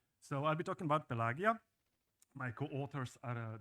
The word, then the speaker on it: Pelagia: properly pronounced and actually pelagia would be how the ancient Romans would pronounce it so this is classic Latin pronation while the the